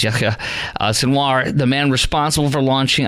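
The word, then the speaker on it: Yahya Sinwar: exerpt of it after yayya senoir or the actual name you pronounce is yya senoir the man responsible for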